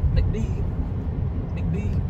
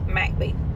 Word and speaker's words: McBee: people pronounce this as MCB MCB but it's Mac B they emphasize the Mac not the MBE so